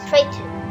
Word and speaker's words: Triton: The biggest moon is Triton, which the pronunciation is similar to the moon of Saturn, Titan. Saturn's moon spells T-I-T-A-N. Neptune's moon spells T-R-I-T-O-N.